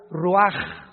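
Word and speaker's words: רוח: Roach así como suena se pronuncia la ch en hebreo como J ruaj se le salló y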